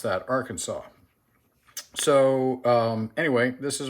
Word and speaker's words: Arkansas: uses um nagura slurry on a uh black Arkansas uh as a finisher and uh um he and almost every non-american uh refers to this as an arcan Kansas that's because you people are logical and sensible